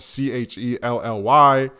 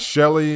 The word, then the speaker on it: Chelly: It's spelled C-H-E-L-L-Y. So we all know that as Shelly, but it's not Shelly. It's Chelly.